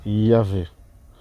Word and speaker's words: Yahvé: Et cette lettre-là, donc le W qui est prononcé V, d'où le fait que ce tétragramme représente Yahvé.